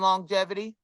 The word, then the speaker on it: longevity: So do y'all pronounce the G twice in longevity? Longevity. Longevity. Oh, it's longevity. Or is it longevity or not? It's not longevity. I thought it was longevity, so I pronounced the G twice. That's wrong. Long and then jevity right after it.